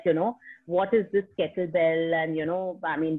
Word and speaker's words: kettlebell: Even today, when I talk about the sport to people, most of them land up pronouncing it as kettleball instead of kettlebell.